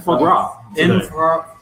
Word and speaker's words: foie gras: You have to say There's like a lot of extra vowels and that aren't pronounced.